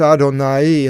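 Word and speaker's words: Αδωναΐ: own a Nighy were the diaeresis above which separates the pronunciation of the Alpha and the iota normally it would be out on I but it's Aden ie in Greek and Adonai we have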